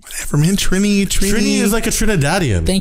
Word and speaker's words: Trini: Trini is like a Trinidadian. Thank you. Whatever, man. Trini. Then put E's in the name. I don't get like. Oh, that's how you pronounce it. Trini is Trini to me.